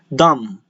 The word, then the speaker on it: dumb: There are a lot of words in the English language that contains a letter M and a B afterwards, but you do not pronounce the B, like comb, dumb.